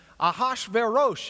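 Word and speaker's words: Ahasuerus: the days of azerus if you were to read it in the Hebrew I translated Esther in one of my classes aash veros is the way we pronounced it if you were to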